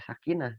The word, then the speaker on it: sakinah: Kak, kok kenapa dibacanya sakinah, tapi di dalam bahasa Arab itu tulisannya sakinatun. Nah, ini teman-teman harus tahu nih. Kalau misalkan kita ingin menyebutkan bukan di dalam Al-Qur'an, bukan di dalam bacaan Al-Qur'an, itu tidak apa-apa. Sakinah. Nah, harusnya kan tak marbuto teman-teman, tapi kita membacanya menjadi hak biasa itu hak besar itu nggak apa-apa.